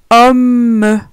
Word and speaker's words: homme: Attention, quand il y a un doublement de la consonne M ou N, on n'a pas la même prononciation. On n'a pas le son ON. Par exemple, gomme, homme. On n'a pas le son ON, mais plutôt homme, homme.